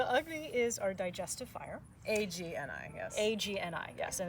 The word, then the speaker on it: Agni: A-G-N-I, yes. A-G-N-I, yes, and it's pronounced Agni, not Agni.